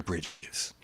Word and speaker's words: Bridge: It was Bridges, Reverend Bridges, right? And so I said, I'm singular, Bridge. I don't have the S, but it's okay.